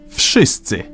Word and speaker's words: Wszyscy: the hell they want, in Polish, you simply pronounce each sound one after another and you get the word. V Sh E Ts Ts E Wszyscy.